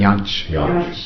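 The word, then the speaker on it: Jantsch: Another person that I wanted to ask you about, who's, well, Janisch, is that the way you pronounce it? Janisch, yeah.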